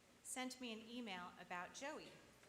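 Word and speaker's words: Joie: me an email about Joey. I wasn't sure how to read the name Joey. It's spelled J-O-I-E, because that word is also the French word for joy.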